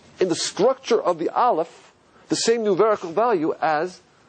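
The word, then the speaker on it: אלף: Listen to how I pronounce an Aleph. Did you hear it? There's no sound.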